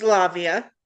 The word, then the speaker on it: Lavia: How do you pronounce that? Lavia? It's Lavia.